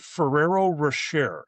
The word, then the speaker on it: Ferrero Rocher: So, I now present you with got a biggie with the I pronounce it Ferrero Rocher. Is that correct?